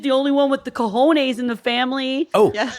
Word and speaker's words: cojones: or whatever, you pointed out, how does he know it's a Hispanic silent J? Right. That it's like he wouldn't know that if he doesn't know what the word is. He wouldn't know that because he said it's spelled with a J.